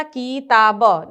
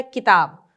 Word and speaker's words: किताब: किताब। तो ये वाली सही है, किताब। क्या हम बोलते हैं? किताब। क में ई की मात्रा का उच्चारण जल्दी होगा तो किताब।